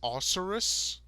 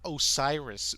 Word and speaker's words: Osiris: the god osiris as osaurus is that what it was yeah he's supposed to say osiris but he pronounces it ulcerous i must not have